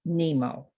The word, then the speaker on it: NIMO: The request for this journey came through Michelle Luson's channel, which was a source named NIMO, pronounced Nemo.